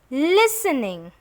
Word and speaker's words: listening: and 29 okay listening in the word listening be is silent there is no sound of P and it is listening all right cozy cozy